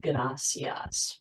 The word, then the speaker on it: gracias: The pronunciation of the single R in Spanish, a motion called the alveolar tap, makes the word gracias roll off your tongue.